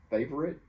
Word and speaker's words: favorite: Some of my favorite, and remember, a lot of people reduce favorite to just two syllables.